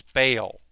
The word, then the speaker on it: Bael: It's not Bael, it's Bael.